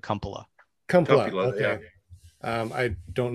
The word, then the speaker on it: Kumpula: My family pronounces it Kumpula.